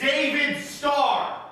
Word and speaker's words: David Starr: the Fandango chance timely you're saying it wrong it's David star oh get it that